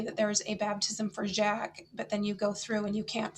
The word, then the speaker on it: Jacques: or jacob in german but in french it's jack so in the table